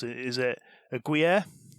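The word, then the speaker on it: Gruyère: Is it a Gruyere? Gruyere. That's how it's pronounced.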